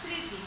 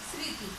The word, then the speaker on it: স্মৃতি: আমরা সাধারণত উচ্চারণ করি, মটা আর উচ্চারণ করি না, স্মৃতি, জাস্ট স্মৃতি, এভাবেই উচ্চারণ করি।